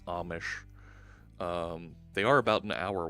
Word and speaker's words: Amish: office I don't live near the emission by the way it's pronounced Amish they are about an